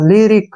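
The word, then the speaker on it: lyric: गया फिर री और सी का उच्चारण क के रूप में होगा लिरिक क्या पढ़ेंगे इसको लिरिक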